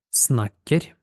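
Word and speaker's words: snakker: те мен снакер снакерь ви могли помітити що наголос трошки цікавий в норвезькій мові це не просто як в українській мові наголос насправді вони розмовляють дуже музикально і у нас перший склад зазвичай на тон нижче чи на декілька тонів а потім ми йдемо вверх Ми кажемо снакерь на норвезькій мові наголос це буде трік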